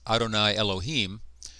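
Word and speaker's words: אֲדֹנָי יֱהוִה: by the Jews but when it comes up against Adonai they do not say Adonai Adonai they say Adonai Elohim you might translate this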